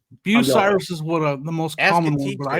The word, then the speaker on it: Bucyrus: I think it's Bucyrus. Bucyrus is what the most common one, but I hear Bucyrus every once in a while.